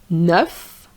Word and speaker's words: neuf: des os neuf which is brand new So here it's an adjective. So you're going to say neuf. You're going to pronounce the F But if you have